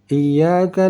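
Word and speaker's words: إِيَّاكَ: Iyyaka na'budu. Sedangkan di sini ya bertasydid karena undang-undang huruf bertasydid disunnahkan untuk ditekan saat dibaca.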